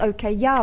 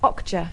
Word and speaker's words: Okja: Yeah, I thought it was called OK Yeah, but it's Okja.